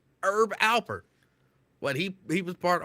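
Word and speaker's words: Herb Alpert: was thought it was herb but I was just told no the H is silent it's Herb Albert what he he was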